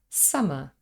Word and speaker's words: summer: in the same way the word summer is spelled with double M but we simply say summer just one M sound if we made